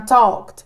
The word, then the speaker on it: talked: verem no final mas a pronúncia vamos entrar nisso também é como se fosse um t tá talked Miss Yes na Fala